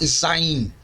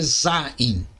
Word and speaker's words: Zain: Sétima consoante do hebraico se chama Zain podemos encontrar em outras fontes seu nome como sendo a pronúncia correta é Zaim a forma simplificada dessa